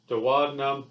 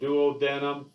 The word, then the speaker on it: duodenum: the first compartment is the duodenum or the duodenum both pronunciations are correct but uh go on